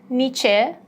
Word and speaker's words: niche: It's not niche, for instance, yeah? It's just niche.